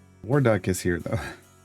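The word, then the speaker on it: Warduke: Waruck is here though. The E is silent.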